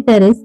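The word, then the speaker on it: Pteris: Basically P यहाँ पे भी हमारा साइलेंट है, इसको हम प्रोनाउंस करेंगे टेरेस।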